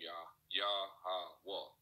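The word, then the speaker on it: Yahawah: That's how you pronounce the Heavenly Father name, Yah-ha-wah.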